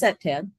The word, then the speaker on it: CPTED: So like I said, it's pronounced CPTED.